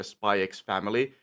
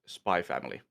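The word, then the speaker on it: Spy x Family: Spyex family, uh you're actually it's actually just spy family. Yeah, they're supposed to be that. Yeah, which is dumb. I I again, I don't like silent letters.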